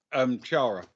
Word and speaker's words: Ciara: Kiara. It's spelled Ciara. Graves. Oh, like Chara. Yeah, there you go.